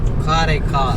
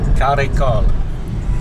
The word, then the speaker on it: Karaikal: Not sure the exact pronunciation. How do you say it? Karaikal. Karaikal.